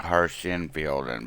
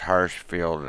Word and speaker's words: Hirschfelden: pronounce or I think I always want to put that a harsh in fielding but it's Hirschfeld and um so we're